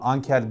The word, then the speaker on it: Anker: videosuna geçelim anch herın Gerçi ancher diyorum ama anker diye de telaffuz ediyorlarmış yani fark etmez nasıl okuyorsanız okuyabilirsiniz an'ın ankerin alt markası Sound